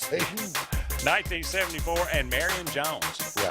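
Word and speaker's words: Šatan: Miroslav Satan, Okay, or so it's not Satan, pronounced Satan.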